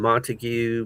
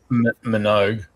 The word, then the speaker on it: Minogue: Uh How How does Kylie pronounce her name? Montague? Montague? What? Minogue.